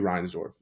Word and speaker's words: Reinsdorf: Reinsdorf? Perfect, perfect. Sorry, I just had to make sure I knew ball for a minute. But yeah, if you're gonna shit on anybody here, it's gonna be Reinsdorf.